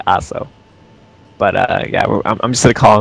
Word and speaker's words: Asou: He used to think that his name was pronounced Aso and Asao, so it's actually Aso.